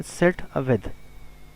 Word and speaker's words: setw: लिखा जाता है एस ई डी W pronounce किया जाता है सेट विद सेट विद मैनपुलेटर।